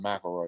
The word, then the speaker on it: McElroy: who are they they are three brothers justin mcelroy uh travis mcelroy and griffin mcelroy it's spelled mick elroy but it's pronounced mcelroy for some reason um i believe they're from